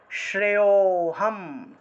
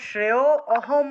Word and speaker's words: শ্রেয়োহম: তো অহম হয়ে গেল শ্রেয় অহম এভাবে বলা যাবে না এটা হলো একটা শব্দ তাহলে একসাথে অ এর উচ্চারণটা উজ্জ্ব থাকবে উজ্জ্ব উচ্চারণ হবে অর্থাৎ শ্রেয়োহম শ্রেয়োহম শ্রেয়োহম শ্রেয়োহম অর্থাৎ অটা আলাদা উচ্চারণ করা যাবে না লুপ্ত ও